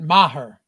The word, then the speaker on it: Maher: Brett Maher.